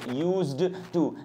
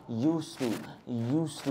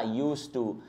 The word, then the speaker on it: used to: भी बोल देते हो, यूज्ड टू नहीं, इसका उच्चारण है यूज टू। भैया इसमें डी साइलेंट होता है, तो इसको यूज्ड टू ना बोलें।